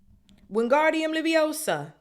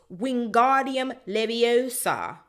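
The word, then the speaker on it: Wingardium Leviosa: having much more luck wingardium liosa he shouted waving his long arms like a windmill you're saying it wrong Harry heard her miny snap it's wingardium leosa make the G nice and long you do it then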